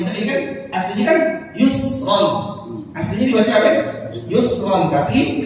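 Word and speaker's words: يُسْرًا: Nah, membaca ro-nya jangan sampai seakan-akan kita baca ro, tapi setelahnya ada huruf hamzah yang kita baca yusro lah. Kita baca mesti yusro.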